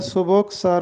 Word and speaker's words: سبک سر: یہ درست تلفظ ہے سبک سر ہونا، سین پر بھی پیش ہے، بے پر بھی پیش